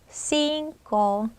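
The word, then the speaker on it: cinco: 좀 불편해요 그러니까 어때요 자연스럽게 넘어가면서 싱고 싱고 이렇게 됩니다 굳이 신고라고 이렇게 해서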